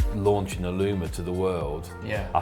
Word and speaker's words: Allumer: Like, we've spoken quite a lot before about how Aluma came about and kind of the birth of Aluma and Am I pronouncing it right? Definitely. Okay. Aluma.